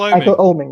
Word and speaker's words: Oeming: Michael Oeming, yeah. Oeming. I've been looking at Michael Oeming's work a lot, and Darwin Cook, of course,